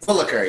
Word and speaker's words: Willacker: Willacker, yes.